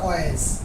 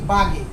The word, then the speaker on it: Waage: কারণ জার্মানি ভাষায় ডব্লুর উচ্চারণটা কির মতো হয়? তোমার বয়ের মতো হয়। কেমন? ডব্লুর উচ্চারণ। তো এটা যদি বি হয় তো বি বাগে, BAAG, বাগে। আচ্ছা যাই হোক, এটা সঠিক উচ্চারণটা হবে পিটার বাগে।